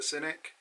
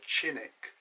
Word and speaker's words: Cinik: i went at dr cynic that's another thing we always say doctor cynic in england in turkey they find this very funny because they pronounce his name as dr chinick so we've obviously say